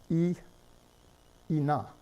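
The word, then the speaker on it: 인어: Now, it's pronounced ina, but it's spelled in-a, not ina. This would be the phonetic spelling, the shallow orthography, but the deep orthography forces you to write in plus a.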